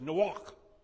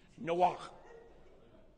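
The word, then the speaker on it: Noach: noah right but it's no walk no see how that stuff it's almost like in german where it sounds like you're throwing up no walk but that's the way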